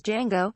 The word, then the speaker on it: Django: his far-out threads he's Django remember the name the D is silent cb4 jackie brown jackie